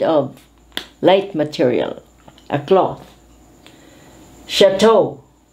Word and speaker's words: chateau: is a kind of light material a cloth chateau chateau is a cottage usually used by lords by